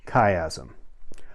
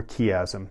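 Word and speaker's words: chiasm: The next thing that's happening is something called kayazm um or kazm depending on how you want to pronounce it.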